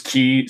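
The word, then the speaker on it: χ: as a browser game, which was just called Kingdom Hearts Key CHI with it's Latin X is pronounced key.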